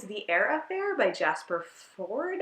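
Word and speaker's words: Fforde: Affair by Jasper Ford I think is how you say his name I always say for for because there's two FS but I think that's just a weird thing that I do and not actual reality so the AA fair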